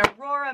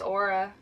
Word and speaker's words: Aura: Aura. It's Aura. It's not spelled like Aurora Avenue in Seattle.